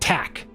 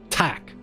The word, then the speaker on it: tack: thank you Stan and thank you in Swedish is pronounced tack tack t-a-c-k is thank you in Swedish so